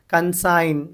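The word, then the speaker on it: consign: कंसाइन, G silent हो गया।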